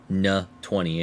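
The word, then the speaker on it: Ne-20: the fact it uses the ne20 that is n ye dash 20 or na 20 if you want to go super rigid on how you pronounce it in fact use those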